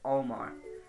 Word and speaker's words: Olimar: And I know you can pronounce it as Olimar, I just pronounce it as Olmar.